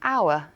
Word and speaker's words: hour: A silent film 就是无声电影。The letter H in hour is silent.